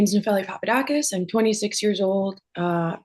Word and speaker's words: Papadakis: I have Papadakus with me. Is pronunciation okay?